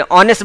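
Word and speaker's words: honest: अब यहां पर देखो ऑनेस्ट मैन ऑनेस्ट नेस्ट नहीं बोलते ऑनेस्ट बोलते हैं एन ऑनेस्ट मैन इसलिए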